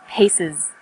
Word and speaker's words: pieces: The example was pieces. Pieces. The S on the end is pronounced z because it followed an S sound.